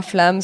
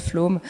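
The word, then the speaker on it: Flåm: le Flamsbana en allant à Flam, ça se prononce Flom.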